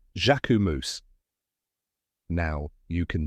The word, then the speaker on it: Jacquemus: Fashion World by storm a lot of people say jamus or jacus but now you know the right way jaumo now you can say